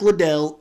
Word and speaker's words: Liddell: eric little or liddell i'm in the habit of saying liddell but i think it's officially pronounced little so when a lot